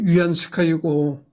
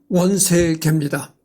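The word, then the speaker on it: 袁世凱: 위안스카이라는 거는 이제 중국 발음으로 위안스카이고 우리나라 한문 발음으로는 원세계입니다.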